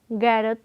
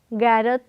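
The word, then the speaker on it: ਗ਼ੈਰਤ: Now I ask you, how will you write Gairat, which is similar to Hairat? Note the sound carefully. Gairat, not Gairat. So we have sound of Gagge Pair Bindi G, not Gagga G.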